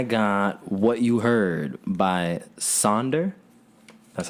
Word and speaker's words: Sonder: And I got What You Heard by Sonder. That's how you pronounce that? Yeah, Sonder.